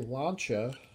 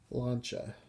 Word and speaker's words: Lancia: not Lancia it's launched that's a two syllable pronunciation it would be phonetical it would be Lau and CH a launcher and his this is